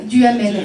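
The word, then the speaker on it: Duhamel: ouais oua alors c'est facile lui c'est Jérôme duamel Jérôme comme ça se prononce et duamel avec H a M e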